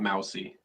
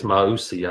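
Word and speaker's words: Mauigoa: by the way everybody not mousy we discovered in the spring I think it's mausi I believe it's Mai what did I say that's what I said I don't think so I wanted to pronounce it mousy when he like the animal yeah and we learned that it's not the case well Nathan that's cuz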